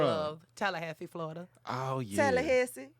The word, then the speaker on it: Tallahassee: Tallahassee. Don't do that. That's how you say it. I am from Tallahassee, Florida. Stop. Tallahassee.